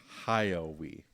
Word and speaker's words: Hayao: You pronounce his name. Hayao. Hayao.